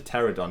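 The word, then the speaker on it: Pteranodon: Oh, it's a pterodon, not a pterodactyl. With a silent P.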